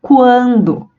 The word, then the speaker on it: quando: Porque na palavra quando nós pronunciamos o U, quando.